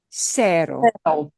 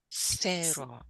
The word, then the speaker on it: Cero: Only if C is followed by the letter E or the letter I, only then it gets the sound of the S, the S sound in English.